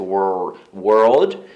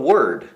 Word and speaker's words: world: Então, por exemplo, a palavra mundo, world, tem muita gente que não consegue pronunciar esse world e acaba falando word, que é palavra, word, world. Então, esses detalhezinhos, a música sempre me ajudou muito.